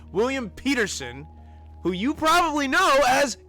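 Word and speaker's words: William Petersen: this and the FBI agent main character is William Patterson did I say that right because I never say it right Peterson I always get that wrong William Peterson who you probably know as Gil Grom copper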